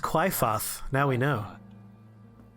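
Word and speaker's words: Qliphoth: inside of that Tower of Doom oh it's pronounced cliath now we know it's a tree that grows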